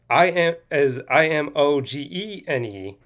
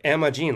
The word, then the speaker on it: Imogene: And it's spelled to the girl's name as Imogene. But I thought in the movie, the way they were pronounced, it sounded like Emma Jean, like Emma Jean, not Imogen, is what I'm thinking of what it is.